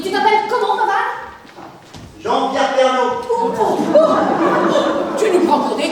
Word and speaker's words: Pernod: Pernaut, comme Ricard. Odé à la fin comme Ricard. J'ai pas bac, mais là t'essaies de nous baiser. Baiser. Oh, lâche-moi un peu, bebeu. En fait, ça s'écrit P-E-R-N-O-D.